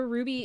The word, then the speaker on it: Ruby: And it's the Ruby, is it Franke? Ruby Franke? Ruby Franke, yes. Yeah. It's spelled Frank, but it's pronounced Frankie, which is very confusing to me.